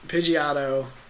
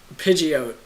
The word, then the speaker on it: Pidgeot: Yeah, how do you pronounce them? It's Pidgeotto Good. and Pidgeot.